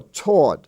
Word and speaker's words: taught: those words that that have that pronunciation are spelled with an a-u-g-h-t as in daughter or taught I was taught a golf lesson t-a-u-g-h-t the